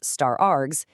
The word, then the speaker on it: *args: When you see an asterisk followed by the word args, which we pronounce star args, it simply tells Python, "Accept as many positional arguments as the user wants to throw at you."